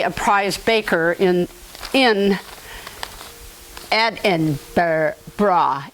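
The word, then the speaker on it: Edinburgh: prize Baker in in Ed and bra Ed bra see I want to say the Burl it's not Burl or bur it's bra um our great great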